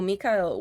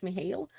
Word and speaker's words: Mihail: And that fucking sucks because in here there's another dragon that is called Mihail or Mikhail, whichever you wanna pronounce it like, but mostly conventional says Mihail.